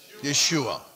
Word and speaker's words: Yeshua: Yeshua.